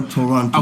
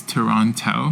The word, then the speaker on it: Toronto: Toronto or Toronto? Okay, so the Hong Kong way is Toronto. Toronto. Okay. Yeah, but the Canadian way, I think, not to offend anybody in Canada, is Toronto.